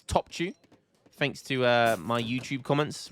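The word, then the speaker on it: Topçu: I'll always remember how to pronounce this one, which is Topchu.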